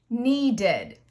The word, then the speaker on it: needed: So in the past tense, it will have an extra syllable and sound like id. Needed.